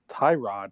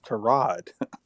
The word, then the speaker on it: Tyrod: thing and he said everybody calls me tyrod my name is tarad there's no apostrophe there